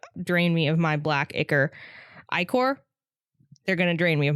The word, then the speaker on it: ichor: I know it's ichor, but like it just seems like so much more to pronounce. It's like Ike more. And ichor just rolls off the tongue.